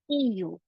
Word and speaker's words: eu: So we have avoir, which changes to eu. Okay, we pronounce it as e.